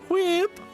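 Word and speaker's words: Hwiip: name again yeah what weep quib h-w-i-i-p whip quip that's how it's pronounced i don't know what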